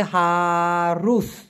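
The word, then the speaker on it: harus: অথবা হারুস, রুস, উচ্চারণটা হবে হারুস।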